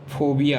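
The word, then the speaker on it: phobia: अगला उच्चारण लेते हैं PH के लिए फोबिया।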